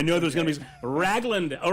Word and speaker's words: Ragland: Do y'all pronounce it the same here in Oklahoma as we do in Texas? Ragland? It's Ragland.